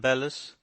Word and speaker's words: bellows: know a man who always calls them bellis which is i believe the professional pronunciation he also talks about